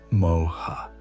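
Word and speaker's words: moha: The sages called it moa, pronounced moa, and it's perhaps the most insidious of the three because it disguises itself as wisdom while leading us further from truth.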